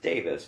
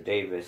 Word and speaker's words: Davies: that that was pronounced Davis not not to nitpick on the pronunciation but I heard that it was pronounced Davis but it's spelled Davies and I do hear